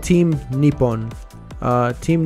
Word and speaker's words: Nippon: uh it's called team Nippon uh Team Nippon which is basically um how Japanese will pronounced Japan over there so we'll